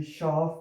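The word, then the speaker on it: Schaf: फिर हमारे पास एस से हा का कॉम्बिनेशन आ रहा है, जिसको हम श की आवाज़ से प्रोनाउंस करेंगे। और ये शाफ भी हमारे पास एक एस से हा से स्टार्ट हो रहा है, तो ये श की आवाज़ प्रोड्यूस करेगा।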